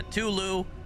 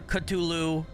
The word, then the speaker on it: Cthulhu: in this game is the way that Lovecraft said it's supposed to be pronounced. I joke around to say that sometimes too, but anyway. Yeah, Tulu or Cutulu is really the closest that humans can come to saying it.